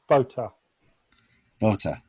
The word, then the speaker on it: Botha: Minister you know pronounce you don't pronounce the T it's Botta Botta okay so we have